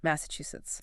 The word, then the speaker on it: Massachusetts: Massachusetts. Four syllables with the stress on the third.